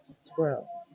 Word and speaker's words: squirrel: be in but squirrel squirrel is intended to be pronounced as two syllables squirrel it's like just saying